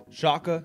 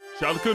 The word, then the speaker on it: Schalke: that no native english speaker is able to pronounce or spell correctly shaka shalka shark shulkin no fear chaka i got it okay shalka no fair esports join the royal blue family